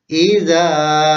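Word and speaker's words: إذا: Wa min syarri hasidin idza hasad. Sekali lagi. Wa min syarri hasidin idza hasad. Nah, pada ayat kelima ini terdapat huruf zal. Maka bacaannya atau pelafalannya pada ujung lidah.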